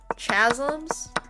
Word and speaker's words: chasm: Oh, why do you pronounce the ch in church but you don't pronounce the ch in chasm?